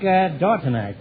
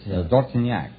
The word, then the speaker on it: Dortignac: Dortonak, huh? What kind of a name is that, Dortonak? Well, that's French. Oh, it is, huh? That's French. How would you pronounce it over there? In France, Dortignac.